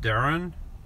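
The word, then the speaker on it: Darene: it's pronounced Dareen is pronounced Darren. How is Dareen pronounced Darren? It's D-A-R-E-N-E, and that's pronounced Darren.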